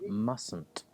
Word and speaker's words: mustn't: Again, we drop the T in this example. Mustn't.